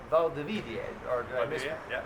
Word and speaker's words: Valdivia: that's a big basketball town, and it's called Valdivia.